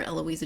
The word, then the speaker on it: Eloisa: but shorter is better eloisa James it's not a long name but um and you know there's only what five letters in eloisa e l o i s a six uh but it's four syllables there's almost as many syllables as there are letters this is the way